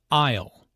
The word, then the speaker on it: aisle: Aisle. Notice the silent S in aisle.